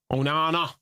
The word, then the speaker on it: Onana: was I don't think that's not how it's pronounced. Onana, correct.